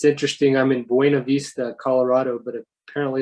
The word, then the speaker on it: Buena Vista: it's interesting i'm in buena vista colorado but apparently a lot of people up here call it buna vista i don't quite understand